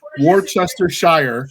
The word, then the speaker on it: Worcestershire: So in Yorkshire, much like Worcestershire, Worcester, it's one of those weird British words that's spelled Winchester sauce. Weird. Worcestershire. Worcester, yeah, it's Worcestershire.